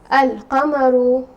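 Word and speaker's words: القمر: say the moon example i will say al kamaru so lamb here is being pronounced and the moon letter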